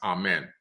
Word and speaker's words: Amun: text in Egyptian text that's amen or Amun Amun ra much later pronounced amen right he's a great